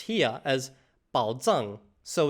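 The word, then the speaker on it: 宝藏: Ah, but it's actually pronounced here as bǎo zàng.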